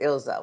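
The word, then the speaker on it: Ilsa: Yeah, he pronounces it Ilza when he talks to her.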